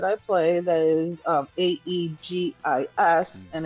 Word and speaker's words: aegis: for shield that we pronounce aus is actually pronounced eegis. Yeah, it's funny. There's actually a mod in a game that I play that is um a e g i s and it's aegis.